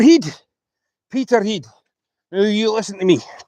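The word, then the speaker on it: Peterhead: We got Freezer, uh, got Peter Heed. See, people call Peter Head. It's Peter Heed. Peter Heed.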